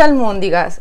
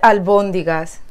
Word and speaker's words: albóndigas: Y no se dice almóndigas, se dice albóndigas.